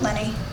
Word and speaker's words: Leni: I admit it although Lenny you probably pronounce a lot of different ways but I think I'm think that's l-e-n-i beanie honey I don't know I always pronounce Lenny yeah you see him